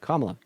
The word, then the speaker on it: Kamala: pronounce her name you have not heard her pronounce her name in any way but kamla okay so what is the worst thing she's